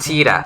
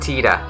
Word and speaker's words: Tita: Titus's Japanese name is, there's no S. It's just Tita. It's just Tita.